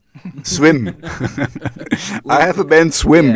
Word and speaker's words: SWMM: name of your band how would you say it swim i have a band